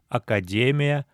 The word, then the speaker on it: академия: Кроме того, в заимствованном слове «академия» сохраняется ударение «академия», «академиин».